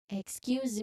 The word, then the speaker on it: excuse: Excuse me, could you repeat that? You remember to stress the second syllable of excuse. So, excuse excuse me, could you repeat that?